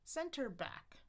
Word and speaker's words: center back: And you might see stress shift over the years. So we've got center and then back. Center back.